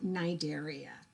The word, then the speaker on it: Cnidaria: The C is silent, so it's phylum Cnidaria.